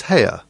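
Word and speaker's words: Haigha: His name is Hare." He pronounced it so as to rhyme with mayor.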